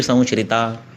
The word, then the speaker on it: संश्रिता: अष्टावंगानि तस्याहुश्चिकित्सा येषु संश्रिता। संश्रिता ये भी श है, श नहीं है, संश्रिता।